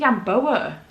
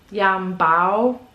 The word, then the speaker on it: Yambao: Oh, I've been saying Yamboa. Yambao. I think that's how you pronounce her name.